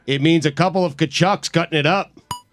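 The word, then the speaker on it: Tkachuk: And spelled it chucks. I did. So no silent T. Chucks.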